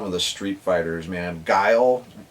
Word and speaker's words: Guile: Guile, we never said Guile correctly. We called him Gilly.